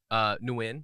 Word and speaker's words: Nguyen: Nguyen is the real way to say it. Oh, it's not. Was that an M sound I heard at the beginning? It's a ng sound with a little like up down thing, and then Okay, yeah.